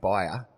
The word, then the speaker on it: Byer: And there was a lady called Kath Byer, rhymes with Jack Dyer, whose family first owned this pub, in fact.